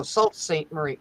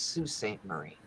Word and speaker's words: Sault Ste Marie: love that thing and when you see how it's spelled most people go Salt St Marie no it's Sault Ste Marie yeah I saw I